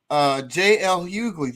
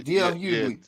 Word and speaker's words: D.L. Hughley: stuff on that for a little while, but J.L. Hughley, did you hear about that? Oh, I heard about that as well. Yeah, that D.L. Hughley. I said his name wrong. D.L. Hughley.